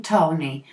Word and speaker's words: Tawny: And then in between Tony, which I probably pronounced like name of a man, but is spelled Tawny.